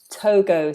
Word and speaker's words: Togo: then we also have let me double check the G on this one as well too Togo so we hit this one nice and Togo Tonga